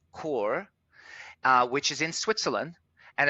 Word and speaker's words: Chur: So I broke it apart and went to a place called Chur, Chur, pronounced Chur, which is in Switzerland and is right on the border, very close to Liechtenstein.